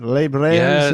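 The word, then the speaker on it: Les Brers: Did I pronounce that right? Les Brairs.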